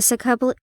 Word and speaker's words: subclavian: There I was attacked on the shoulder with a Giselle bullet, which shattered the bone and grazed the subclavian.